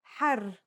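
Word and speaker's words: حَرّ: For example, here are two words that have the same letters but are pronounced differently and have different meanings because of the difference in vowing. Har means hot while her means free.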